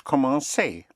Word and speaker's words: commencer: To start, to commence, is commencer.